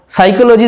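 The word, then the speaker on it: psychology: এরপরে দেখো সাইকোলজি অর্থাৎ মনোবিদ্যা, সাইকোলজি দেখো PSY সাই, এটাকে কিন্তু পি উচ্চারিত হচ্ছে না সাইকোলজির ক্ষেত্রেও।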